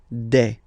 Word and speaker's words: des: All right, here s you pronounce it like e. Okay, un, une, des.